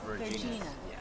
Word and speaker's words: Vergina: How do you pronounce the restaurant's name? Vergina's. Vergina.